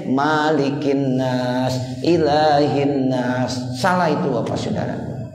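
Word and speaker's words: مَلِكِ النَّاسِ: cotil Alif itu ijma' para qarib begitu Jadi malikinnas Bismillahirrohmanirrohim Qul a'udzu birabbinnas malikinnas ilahinas nesyri ruas-ruas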